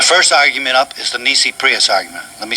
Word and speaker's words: nisi prius: argument up is the nisi prius argument let me spell that for you n n i s i prius p r i u s it's an easy prius argument see all courts in